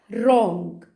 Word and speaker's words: wrong: طيب لا ينطق إذا جاء بعده حرف ال R، زي كلمة right، مش ورايت، right. rap، rap. يغلف، wrong، wrong.